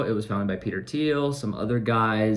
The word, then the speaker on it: Thiel: the name of Peter Thiel. Some call him Peter Thiel because of the way his name is spelled, but he is a German-American billionaire entrepreneur and venture capitalist.